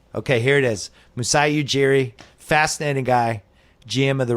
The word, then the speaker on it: Ujiri: I wasn't right and what is the exact pronunciation Ujiri Ujiri yes you got it right yeah some people go you Harry yeah all kinds of stuff with my name